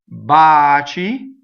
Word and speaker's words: baci: So baci, baci, single consonants, right? So ci is chi, chi is ki. So the C needs an H to make it ki, so it's baci.